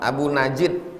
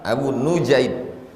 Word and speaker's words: Abu Nujaid: Cara membacanya nunnya dibaca dhammah, nu. Jadi membaca nama itu jangan Abu Najid, enggak, Abu Nujaid. Wa fathil jim, jimnya dibaca fathah, Nujaid.